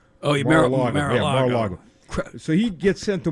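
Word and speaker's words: Mar-a-Lago: His Navy Seal team was sent to car mor car I keep mispronouncing his estate in Florida. Oh yeah Maraago. So he gets sent to Mara Lago.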